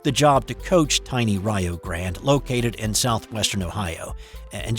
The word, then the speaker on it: Rio Grande: Newt Oliver took the job to coach tiny Rio Grande, located in southwestern Ohio. And just a note here, it is pronounced Rio. It's Rio Grande in Texas, Rio Grande in Ohio.